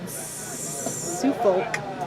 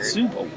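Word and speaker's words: Suffolk: Set for Subulk. Harley Brandulk. Did I say it right? Subulk. Sufulk. There's two Fs in there. I said suffukk.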